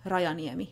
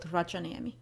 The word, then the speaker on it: Rajani: With the surname, I have to first tell you that the Finnish J behaves a lot like the English Y. So it's Rayani, not Rajani.